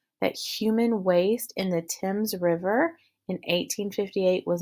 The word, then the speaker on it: Thames: passage it gives you the pronunciation they actually pronounce it the Thames so we are looking for two and we